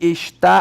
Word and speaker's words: está: Quando você fala e ele está aqui, qual é a sílaba tônica? Tá.